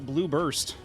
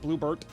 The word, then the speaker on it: Blue Burst: We are playing Fantasy Star Online Blue Burst for the personal computer. Not Bluebert. Blue, not Blue Barrett. There we go. Blue Burst.